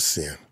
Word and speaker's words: Cyn: here today with me by the name of sin how how are you doing today I'm good